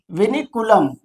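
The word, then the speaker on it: vinculum: विनीकुलम है। स्पेलिंग देख लीजिए। वी आई एन सी यू एल यू एम विनिकुलम कहते हैं।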